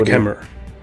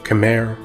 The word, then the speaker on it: Khmer: The Khmer, correctly pronounced Khmer, or Khmer in English, are an ancient people whose culture became heavily Indianized in the region's prehistory.